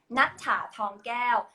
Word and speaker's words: Nuttha Thongkaew: How do you pronounce it? my full name is Nuttha Thongkaew, but is nickname like.